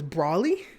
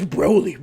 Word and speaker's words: Broly: And one thing I didn't know, I thought it was Brawly. And then Dylan's brother, Steven, my fellow Trash Talk City co-host, he goes, it's Broly, man. You say it right, it's Broly. So I was corrected after 20-something years that it's Broly.